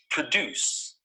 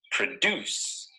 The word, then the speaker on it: produce: of this word is produced notice that the stress is on the second syllable produce produce this bird usually